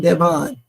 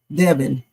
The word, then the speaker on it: Devin: All this time I've been calling him Devon. Devin.